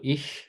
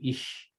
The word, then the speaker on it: ich: how do I do ich? Am I saying it right, Colton? Ich? Yeah, ish.